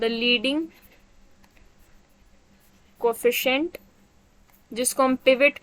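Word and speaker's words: pivot: पिवोट। पिवट, अच्छा सब लोग यही बोलते हैं ज्यादातर, पर पिवट है। खैर अंग्रेज तो इसको पिवट ही बोलते हैं।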